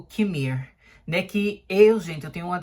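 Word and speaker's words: Qimir: E eu acho que várias vezes eu ficava falando Kimir. Alguma coisa assim, mas na verdade parece que é Kimir, né? Que é a última sílaba do nome dele, que é a sílaba tônica, assim, que você puxa, né?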